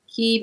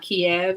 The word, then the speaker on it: Kyiv: And know that it's Kyiv and not Kiev, and people will really get upset with you, Ukrainians would, if you say Kiev, just so y'all know. Because Kiev is the Russian pronunciation of Kyiv.